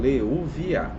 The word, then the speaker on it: Leuviah: Então tem diferença aí na na pronúncia, tá? Pessoal, então o de hoje é o Leúvia.